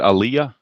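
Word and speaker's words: Alyea: alah is it Aaliyah is that how you pronounce it Aaliyah yes brand Aliyah okay Brant Aaliyah okay Aaliyah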